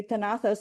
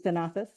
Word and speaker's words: Tenazas: If it was in the Castilian way, tenazas, because you do not pronounce the Z, is tenazas, and it means tongs or pincers.